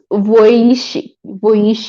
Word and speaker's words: Vujicic: He says, my name is Nick Vujicic, pronounced Voici, okay, Voici, okay.